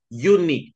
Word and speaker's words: unique: Ini bacanya bukan U, tapi adalah U. Unique.